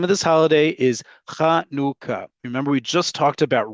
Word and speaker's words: Chanukah: Say it with me, folks. Chanukah. Chanukah. Chanukah. If you say anything other than that, I don't care how you spell it in English transliteration, you're wrong.